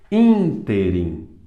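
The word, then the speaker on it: ínterim: que não tem acento interim interim interim interim então o in é mais forte ímprobo e não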